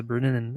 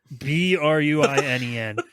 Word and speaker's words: Bruinen: were afraid to enter the waters of the Brunnen. I can't fucking say that right. Spell it. The river Brunnen. Spell it. Bruinen.